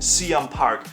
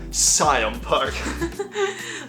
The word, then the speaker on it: Siam Park: This is not a mistake, but if you want to say it like a local, it's pronounced Can Park, not Scion Park.